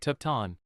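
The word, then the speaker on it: ทุกท่าน: Tukan. Literally all of you. Sounds like tukton.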